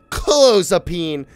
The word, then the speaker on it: clozapine: Clozapine. Here we go. Oh, sorry. Clozapine. Ah, let's go! You heard that? Clozapine. Clozapine. You heard that? My pronunciation was correct. Clozapine.